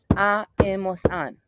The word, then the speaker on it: han: Because the H is not pronounced in Spanish. We don't go in ha, ha. Nope. We start in the vowel. So, e, as, a, hemos, an.